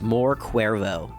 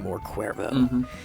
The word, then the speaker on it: More Cuervo: He's around 26, and his name's More Cuervo. More is an M-O-R, and then Cuervo is spelled C-U-E-R-V-O. I think it's a cool name, More Cuervo.